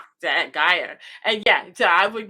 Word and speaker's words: Guyer: Yes, Gajer. That Gaia. And yeah, so I would get your last name wrong again.